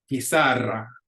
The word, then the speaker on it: pizarra: Pizarra, pizarra. That ends in a vowel, so the accent goes on the second to the last syllable, which in this case is the middle syllable.